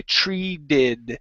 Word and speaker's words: treated: sound that's all right personally I say it with what's called a flap T and I say treed but that's okay you